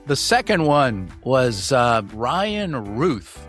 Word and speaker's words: Routh: The second one was Ryan Routh. It is pronounced like tooth.